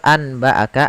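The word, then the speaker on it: أنبأك: di atas huruf nun, yang artinya kita membaca langsung ke huruf ke huruf mimnya. Nunnya dianggap tidak ada lagi. Maka cara membacanya adalah amba'aka dengan bacaan itbaq.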